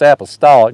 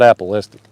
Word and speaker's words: apostolic: think that is it i think it's apostolic not apolistic i know it's got apple in it but i think i'm saying it wrong angela says you're gonna